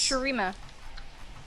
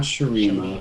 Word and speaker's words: Shurima: It's not Sharia. It's Shurima. it's not Sharima.